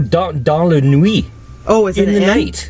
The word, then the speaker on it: dans la nuit: Dansla Quit, which is pronounced 100% wrong. The way I just said it, but that's what it looks like. D-A-N-S La. Oh, dans la nuit.